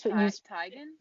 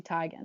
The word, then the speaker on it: Teigen: How you use Tigan? Yeah, it's supposed to be Chrissy Teigen.